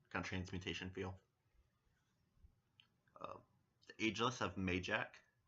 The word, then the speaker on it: Mayjack: The Ageless have Mayjack, spelled like May as in the month of May, and Jack as in the name Jack, the boy's name.